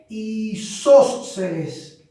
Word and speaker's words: isósceles: Y hay una tercera clasificación que ustedes ya deben estar recordando, que es el triángulo isósceles. Vean cómo se escribe, isósceles. Es una palabra esdrújula, siempre se acentúa.